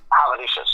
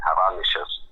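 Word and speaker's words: Hazanavicius: So the David Finchers, the Michelle Havanasi, I still couldn't say his name, the artist, Havanicius, I think is how you say it, Havanicius, in a bad French accent.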